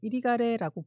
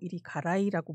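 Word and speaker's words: Irigaray: 이리가레는 이제 이리가레라고 부르기도 하고 이리가라이라고 부르기도 하고 이리가레이라고 부르기도 하고 여러 가지 방식으로 부르는데요.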